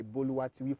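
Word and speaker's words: Boluwatife: From where I come from, you have to put some musical notes on my name for you to be able to pronounce it very well. So it has to be mi, mi, mi, re, mi.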